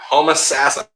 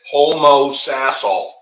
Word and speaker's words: Homosassa: Homosassa. Did I say it right? You still said Homosassal. I said Homosassa. Homosassa. What was that? No, you still are like enunciating. Homosassa. Homosassa. Whatever. You're going Sassa.